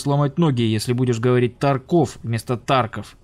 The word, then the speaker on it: Тарков: Ютубе зачем-то упорно говорит «Тарков», лучше не попадаться на глаза разработчикам. Почему именно Тарков, а не Тарков, уже многократно было объяснено, и даже в самой официальной группе ВК стоит ударение на букву А.